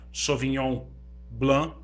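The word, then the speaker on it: Sauvignon Blanc: uva sobre on plantar se escreve salvo e não blank mas se fala só vinham glam e se tiver falando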